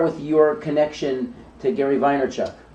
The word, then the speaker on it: Vaynerchuk: So I want to talk about Gary V and start with your connection to Gary Vaynerchuk. Vine in the very vinyl kind of way. In Russian, you would pronounce it Vaynerchuk.